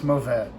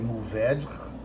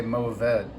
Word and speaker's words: Mourvèdre: And I tell them it's Mourvèdre. And so that's spelled Mourvedre. There's a lot of ways to pronounce it. You can say Mourvèdre, like the French. Don't do that. In California, we say Mourvèdre.